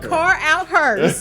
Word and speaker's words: Carouthers: spell my last name it's car out her c a r o u t h e r car out car out hers you don't now you